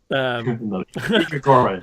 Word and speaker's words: Grigori: Grigori, that's right. Grigori is enough. It's Grigori.